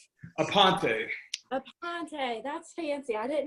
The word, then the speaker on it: Aponte: How do you pronounce your last name? Aponte.